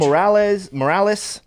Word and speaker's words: Morales: I'm pretty sure it's So- not Morales. It's Morales. Listen, man.